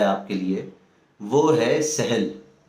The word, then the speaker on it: سہل: کے لیے وہ ہے سہل۔ سین چھوٹی ہے، لام، سہل۔ کہیں اس کو ڈکشنری میں اس کا تلفظ سہل بھی لکھا ہوا ہے، لیکن عام طور پر ہم سہل بولتے ہیں۔ سہل کا مطلب ہوتا